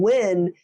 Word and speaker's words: Nguyen: And Win is the Nguyen.